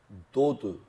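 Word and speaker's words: דוד: 다이라고 하는데이 다임이라는 말도 도드 도드이 사랑 사랑하다 사랑스럽다 사랑하는 이런 뜻을 가지고 있는 두다 두다 두다이 도드 이런 식으로 발음하는 것 그래서이 합체가 향기를 토하고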